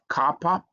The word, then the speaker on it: kappa: So that that that's y then you have kappa uh which is uh it looks like k because it also has a k sound like k in kitchen.